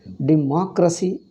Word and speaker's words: democracy: Democracy, in that democracy, the stress is on ma.